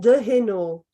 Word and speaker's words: de Heno: de Heno. It's a French name.